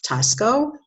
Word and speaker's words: Taxco: This one is Tosco. It's spelled out T-A-X-C-O.